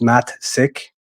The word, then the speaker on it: Matsik: name is matsik it's spelled it's pronounced Matt sick um there's a difference